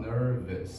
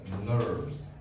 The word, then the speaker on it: nerves: get on my nerves be careful that's not nervous that's nerves nerves we don't pronounce that last letter e okay that's nerves okay so now let's try